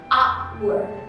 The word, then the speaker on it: hour: Jam itu kan tulisannya hour, pakai h. Nah, meskipun dia penulisannya pakai h, cuman kan pengucapannya hour, diawali bunyi vowel yaitu a. Makanya kalau misalnya kita mau tambah kita nggak boleh hour gitu, nggak boleh, karena dia bacanya a, seharusnya an hour.